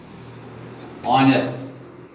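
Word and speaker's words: honest: Beginning with silent H. यहां पर हम लिखेंगे और यहां पर जो एच है ये साइलेंट रहता है. एच यहां साइलेंट रहता है. ऑनेस्ट, ऑनेस्ट मैन हम यहां लिखते हैं एन ऑनेस्ट मैन.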